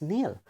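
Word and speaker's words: kneel: it's no I'm sorry it's not Canal okay it's Neil okay I've just made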